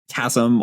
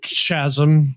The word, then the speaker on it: chasm: Delta in the chat saying chasm also for the hard ch. Now I think chasm I I think chasm is actually considered also acceptable for that one.